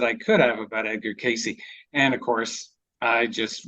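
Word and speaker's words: Cayce: at the time I didn't know how to pronounce his name, Casey, so I thought it was Case. So I used to call him Edgar Case.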